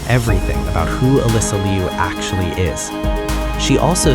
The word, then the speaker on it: Alysa Liu: Alysa Liu. Pause on that. Ah-LEE-sah, not Alyssa. And Liu, 1 syllable, not Liu or Lu or Lo.